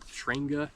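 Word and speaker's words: Trangia: into the system I don't know how you pronounce this it's t r a n g i a I call it shanga I guess um I do like this brand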